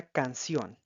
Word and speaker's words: canción: Tenemos un ejemplo particular que es la palabra canción. Canción, canción. Como puede ver en este caso, es una palabra aguda y lleva tilde en la O porque termina en una consonante N.